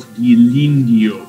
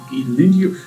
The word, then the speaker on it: Ghirlandaio: Not Ghirlandaio. Ghirlandaio. Again, that's an American accent. I am not American, I am British. So I would not pronounce it that way, so to speak.